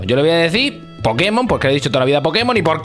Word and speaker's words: Pokémon: no saben d de Los japoneses le dicen Pokémon con acento en la e Búscalo Búscalo si